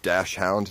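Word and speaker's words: dachshund: It's pronounced Dashhound. Yeah, Dashhound. Well, I just said Dashund because it's. I don't know, it's more funny to say it like that.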